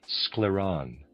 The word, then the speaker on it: Scleron: We mainly treated this patient with our scleron readers aside spelled s c l e r o n scleron and a reader's aside.